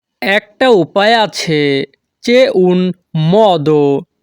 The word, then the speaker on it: modo: একটা উপায় আছে c'è un modo। এখানে MO এর উচ্চারণ হবে মহ। ইতালিয়ান ভাষাতে যখনই আমরা বলতে চাইব একটা উপায় আছে, তখন আমাদেরকে বলতে হবে c'è un modo।